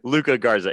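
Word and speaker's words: Luka Garza: he's Luke Luca Garza I always say his name wrong Luca Garza he's he's nasty he's so good and uh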